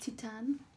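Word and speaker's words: Titane: it's a great movie it's pronounced Titan but whatever um it's a very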